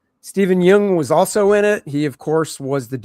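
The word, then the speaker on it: Steven Yeun: Steven Jung was also in it.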